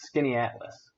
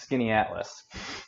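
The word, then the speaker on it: Skaneateles: So, it's actually pronounced Skinny Atlas. Like, here, I'll type it in, Skinny Atlas, like that.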